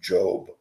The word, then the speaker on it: Job: Actually, his name is pronounced Job. It's spelled J-O-B.